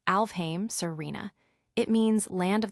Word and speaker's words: Alfheim: Sailor Moon asks Alfheim online. Sailor Nebula responds, "It's actually pronounced Alfame Serena.